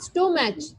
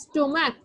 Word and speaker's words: stomach: Not stomach. It is stomach. Okay. Stomach. Yes. Yes, ma'am. Stomach. Though CH is there at the end of the word, but we will pronounce it like K. Stomach.